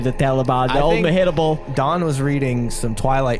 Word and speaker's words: Mehitable: Mehitable. What? I had to look up how to pronounce that. Mehitable? Mehitable. It sounds like she's. It's spelled. Like hit me? Yeah, like me hittable?